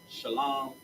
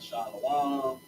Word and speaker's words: shalom: the air on this shalom. Not shalom. Not shalawan. It's shalom. Shalawan makes absolutely no sense.